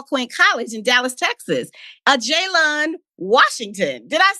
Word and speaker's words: Ajalon: fraternity at Paul Quin College in Dallas Texas a jayon Washington did I say it right yes you